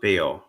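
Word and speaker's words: beò: um, BYW is pronounced Beo, Mm-hmm. as is BEO, Right.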